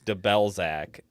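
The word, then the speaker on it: Debelzaq: like the ball sack you think we're mispronouncing that but we're not that's his name his name is De bellzac yeah the ball sack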